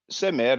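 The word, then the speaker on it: smr: share the screen uh samir now samir that's arabic uh it's uh but who knows it might have been pronounced like that back in the days but semer let's say semer companion slash friend and you should say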